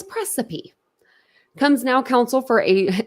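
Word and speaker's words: praecipe: look it up um it looks like recipe but it's precipe comes now Council for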